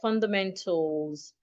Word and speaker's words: fundamentals: Take note of how I pronounce the word fundamentals. I didn't say fundamentals. Most times when we have words ending in suffix AL, the letter A is usually silent.